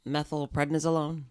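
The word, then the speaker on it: methylprednisolone: can you say the word the whole thing methyl prednisolone thank you yes the steroid yeah yes which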